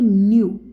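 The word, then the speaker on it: ν: इसको राइट करते हैं जिसको हम जब प्रोनाउंस करते हैं तो न्यू ठीक है न्यू जो है इसको कह के आप लोग जो है प्रोनाउंस करोगे और इसका जो एंटी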